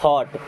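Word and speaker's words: thought: अब इसका third form है, यहाँ पे GH होता है साइलेंट एंड इसे पढ़ते हैं थॉट।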